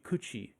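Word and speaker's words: 口: Kuchi would be one way of pronouncing just that.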